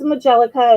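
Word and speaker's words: majolica: about majellica vases um or pictures or anything majellica definitely look it up on ebay there is some money to be made in this and there are a lot of collectors with this so it's majellica it's spelt m a g o l i c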